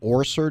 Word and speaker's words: Orser: Cindy Orser. Did I pronounce it correctly?